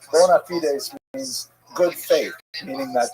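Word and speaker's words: bona fides: call in Latin the term bonafides, right? Maybe you've heard bonafide as that's how Americans say it, right? Bonafidees means good faith, meaning that they are in fact what they purport to be.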